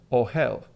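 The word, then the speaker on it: אוהל: in Hebrew okay but I do know how to say it it's oh hell the word in Hebrew is oh hell and how would you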